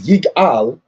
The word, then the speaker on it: Igal: Igal, pronounced as Yigal, means he will redeem.